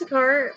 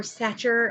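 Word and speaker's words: Sachar: by Louis SAR now Louis sakar or satcher I've heard it pronounced both ways I didn't look it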